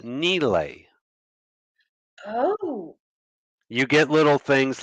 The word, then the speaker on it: Nile: means desert the name of the river we pronounce it the Nile that is not how it's pronounced it's pronounced Neely oh you get little things like this by